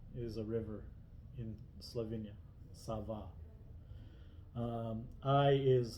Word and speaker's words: Sava: A is pronounced like in father, father. Sava is a river in Slovenia. Sava.